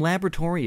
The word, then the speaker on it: laboratory: 여기 발음이요. 여러분 O가 묵음이에요. 여기 앞에 있는 O 있잖아요. 이게 발음이 안 됩니다.